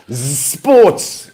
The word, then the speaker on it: Zsports: Zsports. That's how you say it, apparently. Zsports.